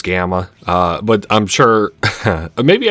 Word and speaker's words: Gamma: So, 100% 100% 100% 100% 100% and now finally Sigma. All right. Turns out I was saying his name wrong. Apparently, it's Gamma.